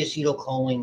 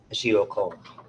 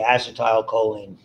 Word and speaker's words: acetylcholine: it into yet more acetylcholine. They'll say acetylcholine. I think they're accenting the wrong syllable.